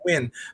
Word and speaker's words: Nguyen: You see Nguyen and you know that that's pronounced Win.